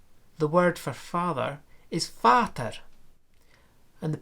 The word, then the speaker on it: Vater: Now, if you move to German, the word for father is Vater, and the P of pater has become f. It's written V, but it's pronounced f.